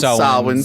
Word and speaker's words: Samhain: the school, broke into the school to write Sam Hain. I know it's actually pronounced Samhain.